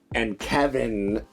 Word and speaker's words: Kevan: I mean, like and Kevin, it's hilarious. His name is spelled Kevan, which I always love. Like he sounds like Kevin if like Forrest Gump said it.